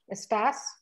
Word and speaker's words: estás: Estás. Estás, perfecto, estás. It gets an S sound at the end.